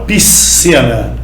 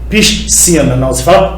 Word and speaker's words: piscina: essa palavra aqui ó você não fala piscina piscina esse SC é pronunciado de uma única forma um único sol Então